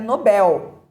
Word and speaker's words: Nobel: também temos um Nobel Nobel é palavra oxítona e é erradamente pronunciada como uma paroxítona a pronúncia é Nobel né As pessoas dizem Nobel e o correto é Nobel também temos o recorde